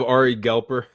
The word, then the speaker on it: Ari Galper: Today I have Ari Galper.